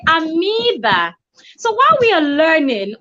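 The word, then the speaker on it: amoeba: us was taught at mueba so every other biology teacher also teaches 56 learners or students before you know it everybody starts saying and finding proof we're supposed to say amiiba so while we are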